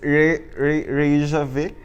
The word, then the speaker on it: Reykjavik: Okay, please pronounce that word. It's like a Dothraki word. It's Reykjavik.